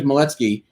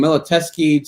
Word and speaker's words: Miletsky: happened my entire life nobody can really pronounce my last name um i mean my name is moletsky but i've heard everything from miloteski to to i mean you can't imagine how many different ways there are to butcher my